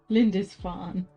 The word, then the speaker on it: Lindisfarne: Lindisfarne. Okay, good, cool, great. Yes, said Harry, though he hadn't decided till that very moment. Now, somehow, he had to go to Lindisfarne.